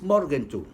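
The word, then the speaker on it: Morgenthau: el plan mordente mordente morgen tous se escribe con h intermedia pero si usted lo quiere pronunciar en inglés morden tur esto por el que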